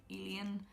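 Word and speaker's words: Elian: But the other character, I think you pronounce his name like Alien, I think he wasn't very well fleshed out.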